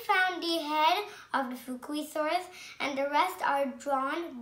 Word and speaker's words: Fukuisaurus: I'm going to tell you how to pronounce it. Fukuisaurus.